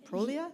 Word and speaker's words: Prolia: work with the Prolia is that the right pronunciation Prolia yes so it's a great question of the